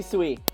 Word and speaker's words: Sui: so frustrating oh um green green suey green soy oh my god please please tell me how you would like your name to be pronounced because i'm going to mess it up every single time and hello long time no see queen zoe i am so confused please please just say sui all right perfect sweet